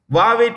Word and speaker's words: Huawei: s-u-n sun next Huawei Technologies that's how you pronounce it wave Technologies is um a Chinese company many countries